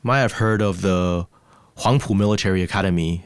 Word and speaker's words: Huangpu: You might have heard of the Huangpu Military Academy. It's spelled WHAMPOA, not a standard spelling, but it's Huangpu. It was founded with Soviet